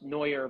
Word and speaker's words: Neuer: My name is pronounced Neuer, but in Canada, some people thought it was Neuer, so that's no worries.